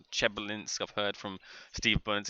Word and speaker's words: Chelyabinsk: I've heard a couple of different ways on how to pronounce that, but I believe the kind of accepted way is Chelyabinsk and not Chelyabinsk.